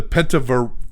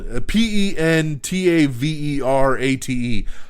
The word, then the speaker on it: Pentaverate: We have the first teaser trailer for Mike Myers' upcoming Netflix comedy event, the oh my God, I always mess this goddamn name up. The Pentaverte. Whatever the fuck it's called. Pentaverate.